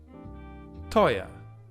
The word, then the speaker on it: teuer: Then we have oi, teuer, expensive.